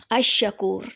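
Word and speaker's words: الشكور: के बाद आता है अल शकूर अ शकूर ठीक है शीन के ऊपर श्रद्दा है तो इसमें लाम जो है वो साइलेंट हो जाएगा तो अ शकूर में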